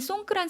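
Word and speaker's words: สงกรานต์: 태국식으로 송그란 이렇게 발음하는데요. 4월 13일에서 15일 우리나라랑 마찬가지로 3일 동안 연휴율을 길게 가지고 갑니다. 그런데 태국에는이 송그란 설날 이외에도 다른 설날들이 있어요.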